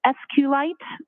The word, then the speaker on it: SQLite: lowercase i t and sqlite uh is also commonly pronounced as SQ light so both pronunciations are acceptable now once you received